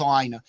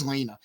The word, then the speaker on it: Lina: they say Lina and Lina rhymes with something else something her little sister is trying to say so then it makes sense yeah yes it is pronounced Lina but in my head